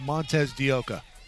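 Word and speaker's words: Montes de Oca: one or pinch-hitter Marisa Montes this Montes deca I'm glad you said that not me I don't think I said it right apologies Marisa it's Montes de oka pinch-hitting here I'll believe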